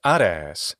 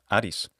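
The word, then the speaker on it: Ἄρης: a contraction of mar his Greek equivalent is ades that's the classical adct pronunciation of Aries or in modern Greek pronunciation Adis we're not sure where this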